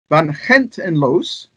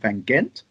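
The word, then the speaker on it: Van Gend en Loos: Nevertheless, Van Gent en Loos, to give it its proper pronunciation rather than calling it Van Gent, Van Gent en Loos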